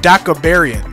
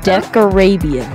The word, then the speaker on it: Decarabian: Debris of Decabarian. No, Decarabian.